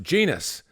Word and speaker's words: Jenas: time, from Nottingham Forest, Jermaine proclaimed that his surname should be pronounced Genus.